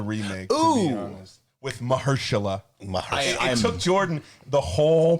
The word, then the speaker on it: Mahershala: To be honest, with Mahershala.